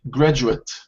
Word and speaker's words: graduate: Okay, so when it's a noun, the pronunciation would change slightly. So instead of saying graduate, you would say graduate.